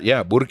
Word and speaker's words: Burque: That's Burque is the acknowledgement of the R that was removed by the Pachucos.